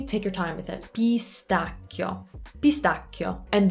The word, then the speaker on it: pistacchio: it pistachio pistachio and that i before the o it's kind of like the word grazie it's not grazie it's a half vowel would treat it like a y like a pistachio pistachio so you're just putting a little y in it and you're focusing on